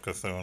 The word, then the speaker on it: C'Thun: I used to be like, yeah, it's my C-thun.